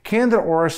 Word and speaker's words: Candida auris: Candida auris, if that sounds like the word ear, is because it was found in a Japanese ear.